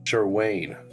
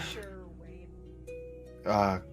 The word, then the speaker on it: Sherwayne: He's like, It's pronounced Sherwayne, tall one. Sherwayne. Pleasure. Sure, Wayne. Sure. Apologies.